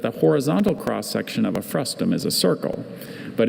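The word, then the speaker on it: frustum: Frustm has no other pronunciation.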